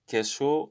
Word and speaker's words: queso: queso is just cheese so the q u sounds like a k so that's how it is in spanish queso asking for the check